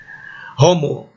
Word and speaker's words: homo: Homo, se a palavra começa por H, levemente soprado.